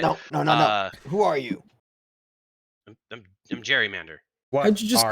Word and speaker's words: Jerry Mander: It's Jerry Mander. I think it's pronounced Gary Mander, but that's besides the point. Not for me. My name is. I mean, I think I would know my name.